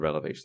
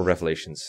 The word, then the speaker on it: Revelation: is dumb especially the relevation spark or revelations sorry I always mispronounce that when else next pit